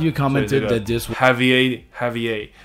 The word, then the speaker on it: Javier: Javier, 他 claim, 他声称他是来自2027年。So a lot of people...